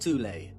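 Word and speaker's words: Thule: within Germany called the th Society sometimes alternatively pronounced tulle that had subactions within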